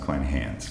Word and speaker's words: Kleinhans: I think that last name is pronounced Klein-Hans.